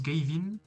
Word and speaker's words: Gavin: dans toute la map un type nommé Gavin se prononce Gavin et c'est drôle il